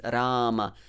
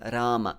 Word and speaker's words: Rama: sound the ra consonant but if you keep your tongue a bit more flat and touch the alveolar a little bit more flat yeah so then you get that so don't flex your tongue on hare and on rama so you should be